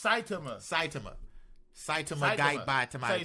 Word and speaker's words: Saitama: It's Saitama. Saitama guy by Tama. Say Saitama.